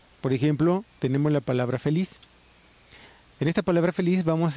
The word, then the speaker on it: feliz: Feliz, que es una palabra aguda. Si fuera grave sería feliz, ¿no? Pero es feliz, pero termina en Z.